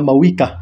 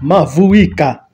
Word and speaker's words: Mavuika: I wish they stopped calling her Mawika. Mavuika. As a Swahili speaker, I want to pronounce her name that way.